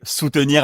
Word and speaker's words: Sootenir: Non, mais soutenir avec 2 O, sous, S-O-O-S, tu vois.